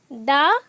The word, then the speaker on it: the: এরপর আসছি তোমাদের দা ভাইস দি, অর্থাৎ দা আমরা কখন উচ্চারণ করব, ভাওয়েল সাউন্ড যুক্ত শব্দের আগে যদি THE বসে তখন উচ্চারণ হবে দি।